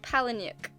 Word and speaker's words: Palahniuk: this how do you say his name Chuck Palahniuk and adapted for the screen by Jim mules